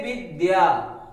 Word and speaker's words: विद्या: इसको अगर धा पढ़ेंगे तो गलत हो जाएगा। इसलिए दा में या लगा हुआ, आ लगा हुआ है, दा में आ लगा हुआ है, इसलिए विद्या, विद्या।